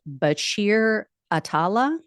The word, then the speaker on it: Bachir Atallah: I believe his name is pronounced Bashir Atala.